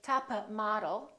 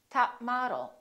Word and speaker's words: top model: hunting say job hunting top model don't say tapa model say top model good boy don't say